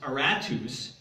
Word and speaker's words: Aratus: we know from history was his name is pronounced aratus and Paul quotes this Greek poet here as